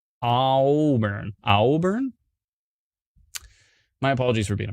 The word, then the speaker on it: Auburn: So it's supposed to be like awesome, like Auburn. AU is aw. All right. But then there's two O's in your phonetic spelling. Auburn.